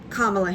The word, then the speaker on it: Kamala: anybody heard it but she said um kamla Harris so she said her name as if to say this is how you say my name uh so that was